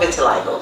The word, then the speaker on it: vitiligo: first my skin condition it's called vitiligo v-i-t-i-l-i-g-o yes because some people don't know how to pronounce it and it's actually uh an italian word for white skin right and what vitiligo